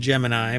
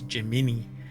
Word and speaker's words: Gemini: already racing each other with chat gbt and Gemini and this is pronounced Gemini but the space uh the the the um astronaut Space Project thing what do you call it I don't know anyway it was jimini which is a weird pronunciation for it but